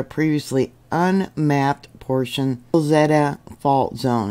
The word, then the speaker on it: Wilzetta: which ruptured a previously unmapped portion of the Wilzetta Fault Zone. It's spelled W-I-L-Z-E-T-T-A.